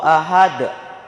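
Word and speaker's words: أحد: Ahad, cara membacanya dibaca pantul dengan berat, dikarenakan adanya qalqalah.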